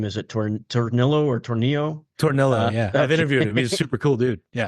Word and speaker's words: Tornillo: Tornillo, yeah.